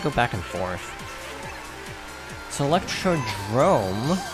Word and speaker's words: Electrodrome: So Electrodrome, which is frequently mispronounced because it looks like Electrodome on a quick glance.